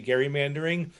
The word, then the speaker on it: gerrymandering: But I've I've trained myself and I als I often fall back on the soft G. But I prefer to say gerrymandering. If I hear other people saying it, I've done something.